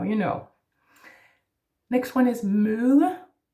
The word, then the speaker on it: møde: And then the soft D again, møde. Keep your tongue down, it's important. Otherwise you would go mølle, almost like a mill.